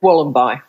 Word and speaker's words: Wollombi: But I wasn't actually sure how you pronounced your town's name. Wollombi, is it? Wollombi.